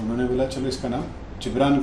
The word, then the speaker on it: जिब्रान: मेरा नाम अगर इंग्लिश में प्रोनाउंस करेंगे तो गिब्रान होगा। गिब्रान होगा, हाँ। बट मुझे मेरे डैड ने नाम दिया है जिब्रान।